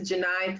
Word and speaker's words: Gheni: frequently misspelled my name so my name is Janine you know it's I know I understand it's not the easiest name to pronounce but it is Jenai and I teach journalism and so you